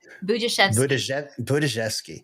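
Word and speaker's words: Budziszewski: Budzhevsky. It's a J.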